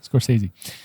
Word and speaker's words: Scorsese: That's how you say it. Scorsese.